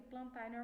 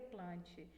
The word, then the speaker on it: Plantae: plantae fungi e Animália Lembrando que plantar na normalmente a gente pronuncia assim mas o correto seria plante mas eu gosto de falar